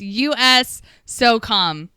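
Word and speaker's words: USSOCOM: I'm being told how to pronounce it. It's US SOCOM.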